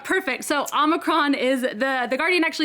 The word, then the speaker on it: omicron: a try hexy omegron omicron perfect so omicron is the the guardian actually explains that there are two answers and omicron strangely is apparently the american pronunciation although you were of